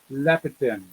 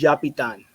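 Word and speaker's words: Llapitan: It's not too bad, but it's pronounced as Yapitan. Is the 2 L's? Yeah, 2 L's as a Y Spanish kind of.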